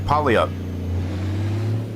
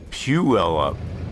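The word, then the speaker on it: Puyallup: It looks like polyup. Is it not pronounced polyup?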